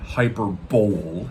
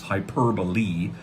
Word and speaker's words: hyperbole: But what it means, by the way, it's not hyperbole. That's not how you pronounce it. It's hyperbole.